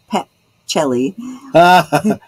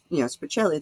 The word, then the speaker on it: Pacelli: Most of my family pronounces it that way, but that the C is pronounced as a CH, you know.